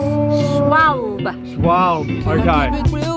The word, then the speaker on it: Schwalbe: Schwalbe. Schwalbe. Yeah. Right. Do you have to say it with a German accent? Or? No, it's better with a German accent, Cam. So from now on, it's Schwalbe.